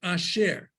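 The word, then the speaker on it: אשר: So like the word at the bottom of the page, asher. You pronounce it just like it's as if those two dots weren't there.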